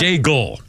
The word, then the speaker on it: Daigle: Daigle. Oh. Not Dago.